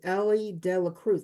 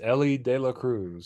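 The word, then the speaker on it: Elly De La Cruz: the Cincinnati um Reds Ellie de Cruz I hope I pronounce that right because I always it's Ellie De La Cruz so Ellie De La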